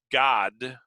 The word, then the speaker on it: Gad: gad it's it's uh i say gad because if you were to say the the in the pronunciation of it it was god g-a-d uh and so i would have to distinguish god from uh god duh so that you would